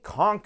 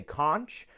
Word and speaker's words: conch: in the comments uh there are two pronunciations of this word in England they will typically refer to this as a conch but here in the United States of America we typically say conch now you can say